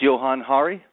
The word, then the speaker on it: Johann Hari: my name correctly as well okay Johan it's Johan Hari yeah you're very rare person who gets it